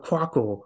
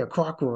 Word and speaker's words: Quackle: Aquaco, Aquaco. It's easy to say Aquaco.